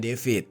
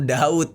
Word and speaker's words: d4vd: Ada beberapa orang yang gua lihat baru tahu kalau nama penyanyi ini bacanya David. Nah, ada yang ngebacanya tuh Daud gitu.